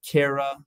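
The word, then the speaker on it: Chara: of that would be like Cara which is spelled c-h-a-r-a nitella those are branched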